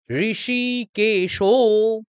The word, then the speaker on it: ऋषिकेशो: পাঞ্চজন্যং ঋষিকেশো, ঋষিকেশো, কেন আমি আঙ্গুল তুললাম? হ্যাঁ, ঠিক বলেছেন, দীর্ঘিকার এবং ওকার মানে দীর্ঘস্বর, আমরা এগুলো দীর্ঘ টানবো।